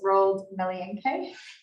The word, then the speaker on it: Roald Melienke: And I did make a special thing of pronouncing his name, so it's Roald Melienke. From CAP, which is a very challenging surname for me.